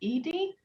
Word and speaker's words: Edie: like to um do am i pronouncing it correct is it edie um i had a comment about the panel that's correct thank you thank you and